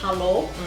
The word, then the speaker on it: hallo: I think in German they say hallo. Hallo with that A.